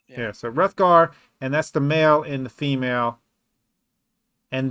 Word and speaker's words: Hrothgar: So anyway, but Hrothgar, I'm assuming the H is silent. I would say the H is silent. Yeah, so Hrothgar, and that's the male and the female.